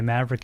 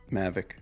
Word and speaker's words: Mavic: That's why I don't have a DJI Maverick anymore. Maverick Mini. I guess the one you're talking about is the Maverick Mini. Mavic.